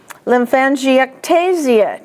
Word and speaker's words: lymphangiectasia: Ectasia or ectasis, lymphangiectasia, TA is the accent.